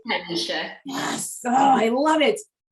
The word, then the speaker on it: TyLisha: So TyLisha, am I pronouncing that right? TyLisha.